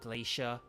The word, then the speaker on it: glacier: A word like glacier, or glacier, as Americans would kind of pronounce it, the ice things, they,